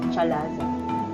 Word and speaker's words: chalaza: part is the salazar in british accent it is pronounced as chalaza in english accent it